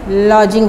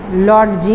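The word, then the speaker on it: lodging: घोड़ागाड़ी कहते हैं लॉजिंग लॉजिंग में डी साइलेंट है यह लॉजिंग है लौट जी नहीं है लॉन्चिंग ए ए लार्ज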